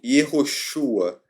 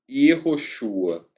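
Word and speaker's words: יְהוֹשֻׁעַ: Após o cativeiro babilônico, esse nome, Yehoshua, passou a ser pronunciado como Yeshua.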